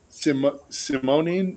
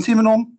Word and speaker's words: Simonin: Let me introduce ourselves, because you pronounced the names a little bit wrong, but no issue. My name is Simonon.